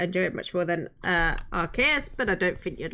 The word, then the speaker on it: Arceus: I remember reading the romanization of the Japanese name for Arceus once, and it was Arusius. A rooster. I find it more fitting to pronounce it with K because arc. Ah, that makes sense.